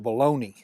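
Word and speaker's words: bologna: out there are saying you're not pronouncing that right it's not baloney I get it I've had an English class or two but I'm from the Boot Hill and down the booill we call it baloney oh there we go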